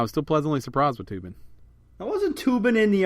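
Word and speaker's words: Toobin: By the way, Tubin is spelled T-O-O. Yeah, Tubin. B-I-N.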